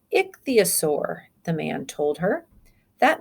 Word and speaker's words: ichthyosaur: That means that we've stressed that, or we say it a little bit louder. We say ichthyosaur. Okay, and we give it more of a stress. That's the syllable that we stress, ichthyosaur.